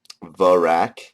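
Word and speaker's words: Verac: ahm anyways veric which is called ver verak verak is how that's pronounced Sarah doen which is called sarahan uh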